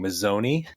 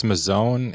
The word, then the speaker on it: Mazzone: I played against Zach, and I might say his last name wrong, Mazzoni. Randy, do you know if that's right? It's Mazzone, and I actually know him.